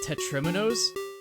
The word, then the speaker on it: Tetrimino: of the tetris pieces those are spelled with an i because Tetris they're called tetriminos but the actual the reason I'm saying it that way instead of Teto is because it's a